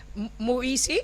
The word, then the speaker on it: Muisi: So for those watching us, Muisi is how you pronounce your name? All right. Perfection. That's how you say it.